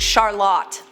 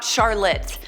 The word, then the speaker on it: Charlotte: Most people don’t know this, but my name is actually pronounced, Charlotte. Not charlit. My mother named me charlotte because that is the european way to say it, both my parents are immigrants. I say my name is charlit because that’s the way north Americans pronounce it.